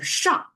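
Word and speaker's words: 赏: So the top pronounced as shang.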